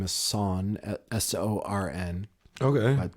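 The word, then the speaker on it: Sorn: was over for Thanksgiving and his name is son s-o-r-n okay I pronounce son's Uncle San was over for Thanksgiving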